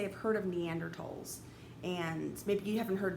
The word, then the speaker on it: Neanderthal: It has never been Neanderthal, it's Neanderthal. You sometimes will see it spelled with a T, sometimes you'll see it spelled with a TH. It doesn't matter, it's still pronounced in Neanderthal.